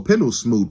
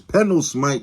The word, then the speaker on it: Pendlesmite: And a running joke, a gag in the movie is saying the last name wrong. So Pendlesmoot, Pendle this, it's Pendlesmite, you idiot.